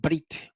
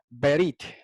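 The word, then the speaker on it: בְּרִית: verdad sigua y dicen brit he oído mucha gente decir brick by brick java ya que es más correcto brit had asia pero no debe pronunciarse en hebreo bíblico se pronuncia berit es ver y que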